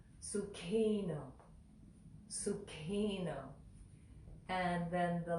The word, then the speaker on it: Sukhino: that helps our Western mouth feel the right pronunciation of that K and the H next to one another so it's Sookie no Sookie no Sookie no and then the last word do